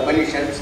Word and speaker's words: Upanishad: It consists of 3 syllables. Upa, Ni, and Shat. These are the 3 syllables that form the Upanishad.